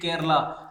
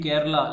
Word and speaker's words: Kerala: to remember the name Kerala? Let us see the trick. Friends, if you observe the first three letters of Kerala, K-E-R, its pronunciation is similar to care.